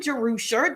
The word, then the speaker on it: Jerusha: So if you're joining me for the first time, I'm Jerusha. That's how you pronounce it.